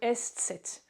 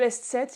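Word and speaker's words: ß: l'alphabet français, c'est le S7. Le S7, il ressemble à un B majuscule, mais détrompez-vous, ce n'est pas un B. C'est simplement ça se prononce comme 2 S.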